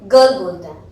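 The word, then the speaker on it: girl: गर्ल, जी के बाद आई आ रहा है तो हमें जा प्रोनाउंस करना चाहिए था, फिर भी हम ग प्रोनाउंस करते हैं, गर्ल बोलते हैं।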